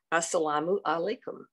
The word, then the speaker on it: Assalamu Alaikum: in Farsi, and he would pronounce it as Assalamu Alaikum, which is the second line, Assalamu Alaikum, which is the phonetic translation of the Farsi.